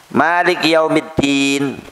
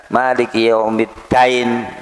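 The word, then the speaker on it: مالك يوم الدين: karena enggak enggak dobet Maliki yaumiddin ono sing keliru moco misal misal Maliki yaumiddain Din artinya hari kiamat dinain artine hutang satu harakat bisa merubah segalanya n tashif itu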